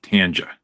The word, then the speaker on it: Tanja: By the way, that is the correct way to say her name, Tanja.